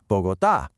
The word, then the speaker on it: Bogotá: Rule 1 says we should stress the second to the last syllable, but the city is called Bogotá.